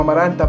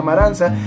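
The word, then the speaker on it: Amarantha: por la reina amaranta que jon ley como amaranta pero al parecer se pronuncia maranza que es un personaje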